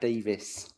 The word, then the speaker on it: Davies: It's Councillor Davis. Just to, yeah. It's spelled Ease, but it's pronounced Is.